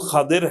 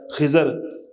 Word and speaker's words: خضر: خضر علیہ الصلوۃ والسلام، اس کا صحیح تلفظ خضر ہے لیکن ہمارے ہاں مشہور ہے خضر، اصل میں خضر اس کا تلفظ ہے، تو ان کی